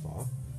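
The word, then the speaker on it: phở: friend Rob ordered the fa p h pronounced fa and this was the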